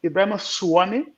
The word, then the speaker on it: Ebrima Sawaneh: He didn't pronounce it properly, he's from Salieu. And in the class, we had two Ebrimas, Ebrima Sawaneh and Ebrima Sawaneh. So it's a matter of U and the A.